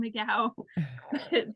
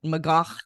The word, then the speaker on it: McGough: Yes, I'm sure my ancestors said McGough, and then somewhere in America we started saying McGough. Yes. McGough with a little bit of a cough at the end of that. McGough.